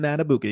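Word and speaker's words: Madubuike: weeks ago when they played the Ravens at metabuke played or have you pronounced that guy's name played the Giants in the Run game Justin matabuki yeah exactly and so now we have this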